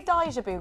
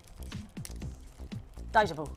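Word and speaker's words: 大丈夫: Daijabu. They say it like that. Not daijabu, like I says it.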